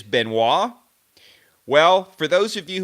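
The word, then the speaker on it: Benoît: pronounces his own name and he pronounces it Benoit that's what Roger does Benoit which sounds really cool but I do think that it's wrong I know that it's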